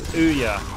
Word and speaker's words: Ouya: Andrew Beer, sorry, in the chat saying he's going to play with his Ouya.